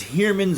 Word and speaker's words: Heermann's: but i can't recall that ever heard someone pronounced the name out loud like definitively so i'm not sure if it's humans or Herman's go so I would love to